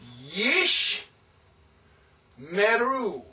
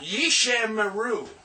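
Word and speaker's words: ישמרו: There is no, it's not Yishe. It's not Yishe Meru. No, it's Yeesh.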